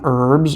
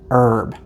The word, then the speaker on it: herb: to mention is that in the U.S we say herb the H is silent however British people say